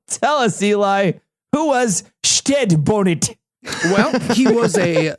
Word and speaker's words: Stede: I think all the jokes fail if you do it Stede, though. We're going to be talking about Stede Bonnet, the gentleman pirate. Okay, and that is how we are going to pronounce it.